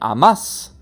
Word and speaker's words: amas: Par exemple, nous avons ames, ames, où le A est accentué pour dire tu aimes, et amas, où c'est le deuxième A de la terminaison, la deuxième syllabe qui est accentuée.